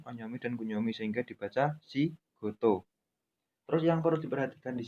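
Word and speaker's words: 仕事: Jadi bacanya si goto, bukan si koto, seperti itu.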